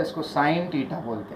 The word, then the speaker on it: sine: ये साइन है, शॉर्ट में हम उसको SIN लिखते हैं, पढ़ते साइन ही है, सीन नहीं पढ़ते, कोई गुना वुना नहीं है।